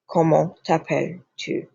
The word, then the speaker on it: comment t'appelles-tu: Now, if you notice, right over here, whoa, you do not pronounce this S. Do not pronounce that S. It's simply, in the French language, you generally do not pronounce the consonant at the end of a word. Generally. Most of the times you do not pronounce it. All vowels you do pronounce. And also on this T right here, you do not pronounce. It's a nasally.